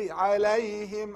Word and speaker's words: عليهم: مغضوب عليهم. عليهم also, not عليهم. عليهم is wrong. It's from throat.